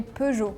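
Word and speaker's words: Peugeot: than I think so in France we say pu in Japan we say pu in Turkish we say either P or p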